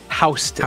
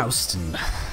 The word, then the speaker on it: Houston: In Georgia, there's a county spelled like Houston, Texas, pronounced Houston. Houston.